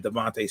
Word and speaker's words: DeVonta: DeVonta. I'm a Philadelphia sports fan. It is my God-given right to mispronounce an athlete's name, okay?